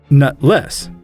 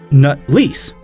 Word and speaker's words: Nutleiss: I'm pretty sure his family name is Nutless. Well, then again, it might be like how the Chancellor pronounces it, Nutlease, meaning he has to rent a pair to make up for his natural lack of a sack. You would think, with how much money his family has, he could afford to buy a set. It's pronounced Nut-lease, you cretins!